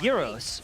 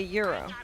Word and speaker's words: gyros: Comes from the Greek word It's gyros, yeah. meaning circle or turn. No way in Greek do they say euro. Yeah, the first syllable starts with a Y sound, followed by the long E. The R is rolled strongly, apparently. The O is pronounced as in go, although I will say